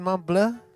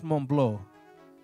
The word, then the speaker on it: Montbleau: Is it Montbleau? It's in French it's Montbleau, but in American English that becomes Montbleau. So my family has always said Montbleau.